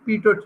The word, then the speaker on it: pitot: This is the pitot tube, and the spelling is Pitot. ठीक है, last Okay. T is silent.